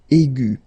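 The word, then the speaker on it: aiguë: Okay, and then the feminine form will be aigu. So phonetically, it is exactly the same thing.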